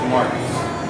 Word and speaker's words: Marquis: It's Marquis. Marquis. It's spelled Marquis, but it's Marquis. Or somebody with bad handwriting might have wrote on the birth certificate. No, it's French, but it's the Q with the K sign.